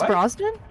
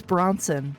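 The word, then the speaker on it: Brosnan: Bronson that movie Pierce broen yeah it's Pierce broen isn't it stop saying his name wrong no I refuse he always calls him Pierce Bronson I'm like who the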